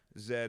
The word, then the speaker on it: Z: two minutes until we until I figured out that Zed is is how people pronounce that's how you I